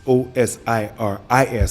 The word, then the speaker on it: Osiris: It's Osiris, but she spelled it U-S, but it is pronounced Osiris.